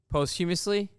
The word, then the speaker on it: posthumously: Posthumously.